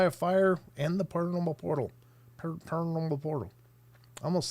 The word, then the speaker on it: Portal: Tex calls it a portal, porthole, whatever. Anyway, it's not a porthole. It's a portal.